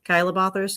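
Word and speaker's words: Chilabothrus: I usually say um kyabothus because it's based off the Latin word kyos which is lip.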